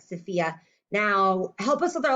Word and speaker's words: Sophia: much princess but yeah sophia ph sounds like an f so sometimes when you